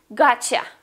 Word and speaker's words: gotcha: Gotcha. Got you. Gotcha. As you know, you is sometimes pronounced as yeah.